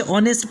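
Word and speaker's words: honest: पहला है आवर्स मतलब घंटा, उसके बाद में ऑनर, उसके बाद में ऑनेस्ट, यानी हॉनेस्ट नहीं पढ़ना है बल्कि ऑनेस्ट पढ़ना है, ऑनर पढ़ना है, आवर्स पढ़ना है और उसके बाद में एयर पढ़ना है।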